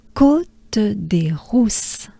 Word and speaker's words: Côte des Rousses: Rousse, again, inhale and exhale to pronounce the R. Roux, ou. It's a oo sound, oo.